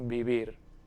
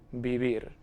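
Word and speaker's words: vivir: in both of them they are both pronounced as if it were a b we don't have v v it's just bibir again bibir so i'll ask you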